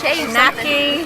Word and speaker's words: Shai Shacknai: Can't pronounce it. Shay. No, it's Shay Shacknai.